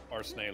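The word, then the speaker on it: Arsène: the French novel uh the French novels of arsene LuPone are sent Oh I thought it was spelled arsna it is but it's pronounced Arsen oh well the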